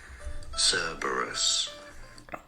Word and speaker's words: Cerberus: like learning s burus stress on the first syllable both British and American pronunciations so let's go into